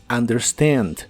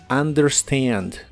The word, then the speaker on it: understand: Y usaremos el verbo understand, que significa entender o comprender. La UN del inicio de las palabras en inglés se suele pronunciar como an, como en este caso, understand, understand.